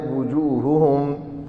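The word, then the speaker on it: وُجُوهُهُمْ: پڑھ دیتے ہیں، نہ واو کی پیش کے ساتھ اس کو، اس لیے تلفظ بھی ساتھ ساتھ ٹھیک ہونا چاہیے، وجوہہم ان کے چہرے،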